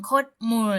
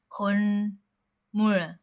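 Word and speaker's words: 콧물: คำ นี้ นะ คะ เรา จะ ไม่ ออก เสียง โคด มู นะ ฮะ แต่ ว่า เรา จะ ออก เสียง ว่า คนม คนม ก็ คือ เมื่อ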